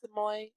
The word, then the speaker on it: Samui: Oh, it's Samoy.